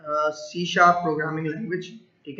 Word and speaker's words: C#: Microsoft introduce a new language called CSAP pronounced C sharp.